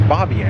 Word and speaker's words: Bavier: I keep wanting to pronounce that differently, but it's Bavier.